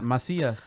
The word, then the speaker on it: Macias: So I told her in Spanish it's Macias.